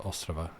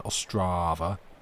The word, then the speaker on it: Ostrava: Yeah, I'm glad that Ostrava is being nice. As you told me that it should be more correctly pronounced, put the emphasis first rather than Ostrava, like we do here.